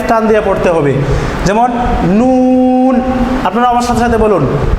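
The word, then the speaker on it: نون: বর্ণ লিখতে যদি বাংলা দুটি বর্ণ লাগে এই উচ্চারণটা লিখতে তাহলে এখানে এক আলিফ টান দিয়ে পড়তে হবে যেমন নুন আপনারা আমার সাথে সাথে বলুন নুন নুন নুন আর আমরা যদি তাড়াতাড়ি বলে ফেলি নুন নুন তাহলে আমাদের হরফটা সঠিক ভাবে উচ্চারণ হবে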